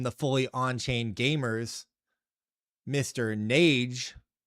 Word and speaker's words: Nades: Nades. It's kind of pronounced Nades, like grenades.